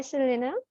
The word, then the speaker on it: Selena: asking me a question Hi Selena hi yeah am I pronouncing your name right yes yes that's how you say it I'm glad thank you